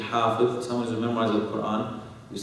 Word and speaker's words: hafiz: Okay, someone who's hafiz, okay, usually mispronounced as hafiz, okay, is actually hafiz.